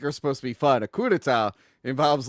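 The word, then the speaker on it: coup d'état: you I got you Adam yeah soundtrack to a Cuda a Cuda thank you when you overthrow like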